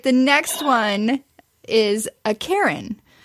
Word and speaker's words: cairn: Despite many people pronouncing this like the name Karen, like I just did. The pros know to use one syllable instead of two, so it's Karen.